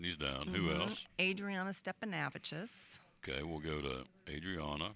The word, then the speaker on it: Stepanavicius: Stepanavicis. Stepanavicius. We'll do this phonetically. Vicious. That's how we learn it. Yep. Stepanavich. Stepanavicius. You leave an S on it. It takes practice.